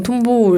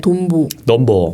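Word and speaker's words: トンボ: 연필 맞아요 그게 톰보라는게 우리나라에서 영어로 통보 이렇게 돼 있지만 사실 일본어 발음으로 하면 돈보 넘버가 또 잠자리를 그냥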